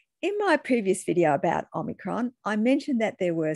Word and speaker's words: omicron: Some people pronounce it Omicron like I do, whereas some people are pronouncing it Omicron. Now, it doesn't really matter, except I've heard some people pronouncing it Omicron claiming they are right, and the people pronouncing it Omicron are wrong. Well, as you know, Omicron is a Greek letter, so let's ask my